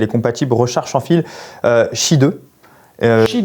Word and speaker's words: Qi: Mais vous le voyez, si Qi 2 ça vous parle pas, vous le voyez souvent écrit, c'est QI 2. Oui, c'est ça, mais du coup qui se prononce Qi 2.